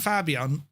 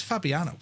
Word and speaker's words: Fabiano: According to the developers, Jean and Fabon, Fabiano, Fab Fab, Fabiano, Fabiano, that's Fabiano, uh, a number of